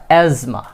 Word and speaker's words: asthma: asthma, asthma.